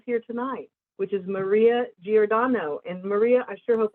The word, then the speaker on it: Giordano: one of those here tonight which is maria giordano and maria i sure hope i pronounced your name correctly we did did i